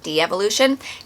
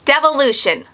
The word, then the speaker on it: Devolution: I feel like I always say it wrong. I want to say it as De-Evolution. Devolution by Max Brooks.